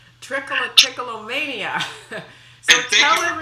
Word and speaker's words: Trichotillomania: It's called Trichotillomania. So and thank you for pronouncing it that way, because it's one of the secrets of being perceived as an expert.